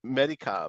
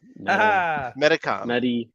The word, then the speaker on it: Medicom: help dude we don't know the it's it's Medicom I don't know how do you pronounce that phonetically yeah medical I was right Medicom I know it was long past dude we're